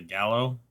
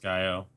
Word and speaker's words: Gallo: Alright, so today we got the Gallo SA-12, or as a lot of people in the game call it, the Gallo, even though it's pronounced Gallo, which means rooster in Italian.